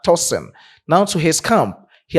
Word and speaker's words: Tosin: I have to pronounce the name very well because people are very specific with the pronunciation of the toen is not toen but toen.